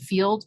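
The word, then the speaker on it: Feeld: author named joss charles called field but it's spelled f-e-e-l-d and and that book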